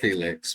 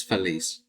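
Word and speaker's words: Félix: But it's it's spelled like Felix. It's like Felix, but it's Feliz.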